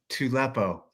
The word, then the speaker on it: Tupelo: We have Tracy Loden from CrossFit Tupelo. Tupelo. Tupelo. Tupelo. Yeah, Tupelo. It looks like Tupelo, but it's pronounced Tupelo.